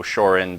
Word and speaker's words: Shorin: So Shorin basically being the Okinawan pronunciation of Shaolin.